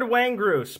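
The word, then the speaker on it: Windgrace: sorts coming out of her his hands lord waeng gross pronounced exactly like that yeah lord when grace is a duck i built when the card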